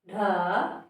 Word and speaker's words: ढ़: और ये ढ, बढ़ई, ढ। दोनों के उच्चारण में अंतर है।